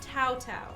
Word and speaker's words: Tao Tao: Wait, so it's not... It's pronounced Tao Tao. Okay, I said it wrong initially.